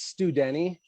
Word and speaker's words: Studney: Not too bad, but it's Studney.